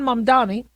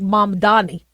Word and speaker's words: Mamdani: Now you have Zoron Mdani and I know he's his name gets mispronounced but it's I think Mam Dani.